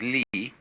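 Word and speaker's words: 理: is r r is a Chinese character pronounced by the Chinese Lee which almost all of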